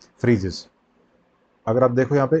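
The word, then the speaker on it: Phryges: क्या नाम है फ्रीजस इसको फ्रीजस प्रोनाउंस करते हैं पी एच वा पी एच आर वाई जीई एस फ्रीजस और यह जो है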